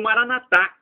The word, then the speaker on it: Maranatha: os protestantes evangélicos ou Maranatha com a tônica na última sílaba como dizemos nós católicos o significado é o